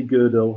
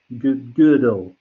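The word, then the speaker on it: Gödel: was kurt goodall and let's all say good old again good old does anyone speak german good good like it's like strudel but with an eye okay that's that's how you pronounce the funny little dots on the girl with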